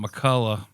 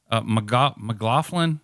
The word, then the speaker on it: McLaughlin: with this article by Grant McCullough, McLaughlin. How the hell did I say his name? McLaughlin.